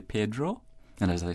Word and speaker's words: Pedro: or Pedro in Cayman many many insist on saying Pedro been saying the name the way the Spanish name begins to sound just like we say Peter I think maybe that English influence is there working on that Spanish word management either Pedro right mm-hmm right but it is originally Pedro and as I say